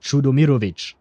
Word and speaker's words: Chudomovich: the the right way of saying it would be more like Chudomovich, right? With a different inflection uh and a rolled R in the middle, whereas he does not put any effort into it. It's just full on English there.